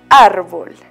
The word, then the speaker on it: árbol: Árbol. Los arbolitos que nos dan oxígeno para vivir también tienen acento en su palabra. En la vocal A. Árbol.